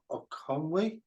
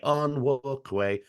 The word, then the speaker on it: Onwukwe: Ben O'Conway? No, it's like on Broadway. Onwukwe.